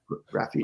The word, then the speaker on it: Graphiti: Yeah, Beth put it looks like Get Zep at spelled with graph, GRAPHITI. Yeah. Graffiti.